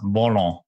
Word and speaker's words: Volant: Now, Henry just wanted to ask a question and to see whether you could pronounce volant better than us. Volant.